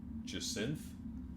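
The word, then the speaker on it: jacinth: Uh, you you kind of smear some of the purple blood off of it and realize it's a jinth, I think, is how you pronounce it.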